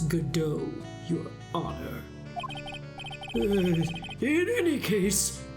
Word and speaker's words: Godot: with you the prosecutor gobo it's not Gobo it's Godot your honor in any